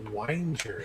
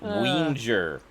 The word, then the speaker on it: Wenger: she had fun why why would you pronounce that whiner sorry wenger it's like it's like wiener but with a g what not every g is pronounced sorry wenger no